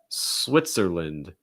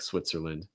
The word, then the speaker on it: Switzerland: you can't say that a lot of times you'll hear people pronounce it unvoiced or voiceless switzer switzer and then the lynn part again is like england or ireland it's going to get reduced okay so like switzerland